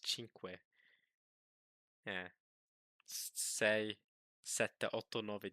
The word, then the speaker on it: cinque: Because in Spanish it's cinco, in Italian it's cinque.